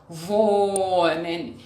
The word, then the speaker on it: wohnen: Repitam, wohnen, quer dizer morar. Sempre que nós temos um H depois da vogal, a vogal fica bem longa.